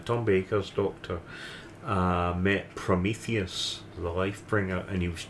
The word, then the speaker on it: Prometheus: was the myth of Prometheus yeah I I don't think I saw it and I I Rose remember I um I pronounced it at the time promus but um when I